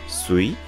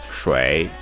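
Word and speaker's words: 水: It is pronounced sui in Japanese, while shui in Chinese.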